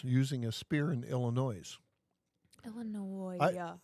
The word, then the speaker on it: Illinois: Illinois. There's no S that you actually pronounce in Illinois.